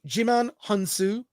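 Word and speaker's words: Djimon Hounsou: his name but you've seen this actor before Digiman honu uh J hansu yeah jiman g excuse me jiman hansu uh by Duna plays a character named nemesis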